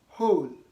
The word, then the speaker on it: whole: okay W is silent another rule is that W is not supposed to be pronounced when it comes before h in these ways try to compare these